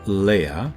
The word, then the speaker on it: Leja: According to Joel Leja, or Leah as is sometimes pronounced, assistant professor of astrophysics